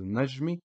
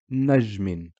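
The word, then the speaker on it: نَجْمٍ: pronounce it as a nazmi but because of the double castra which adds an n Sound to the vowel we pronounce it as nejmin okay awesome well that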